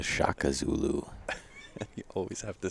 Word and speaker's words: Shaka Zulu: Such as the Shaka Zulu. I'm not sure you can come Say up that with again. a better name. It's not the Sheikh Zulu. It's not the Sheikh Zulu. It's the Shaka Zulu.